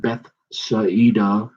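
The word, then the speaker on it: Bethsaida: going and reading backwards they pronounce the i as an e and i picked up on that so it'd be like beth saeedah and he cometh to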